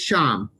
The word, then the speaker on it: Shyam: so i've asked uh shyam or shiam it is sham okay yes it's pronounced asham so my name is sham and i am with